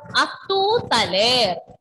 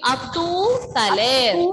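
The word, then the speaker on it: à tout à l'heure: Attu taler. Attu taler. Now read fast. Attu taler. Wait. This T you have to connect with this A.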